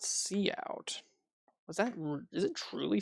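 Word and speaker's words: cout: It it pronounced see out.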